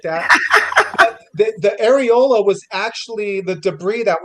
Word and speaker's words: areola: represented the the I don't know how you pronounce it. The orurel or the the the skin that's around the nipple. Orela the areola.